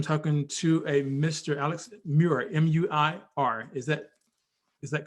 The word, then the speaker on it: Muir: to a mr alex muir m-u-i-r is that is that correct yes alex new york uh you pronounce it like you would say david muir another journalist for abc